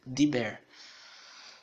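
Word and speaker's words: דיבר: É que na pronúncia a gente não vai pronunciar assim os dois sons, ficaria Diber. Mas na silabificação nós devemos contar como duas sílabas.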